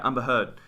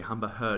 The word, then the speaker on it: Heard: Heard Amber Heard yeah it's got D in it yeah okay I was saying her okay yeah Amber Heard um I'll pronounce the D humber her did I did no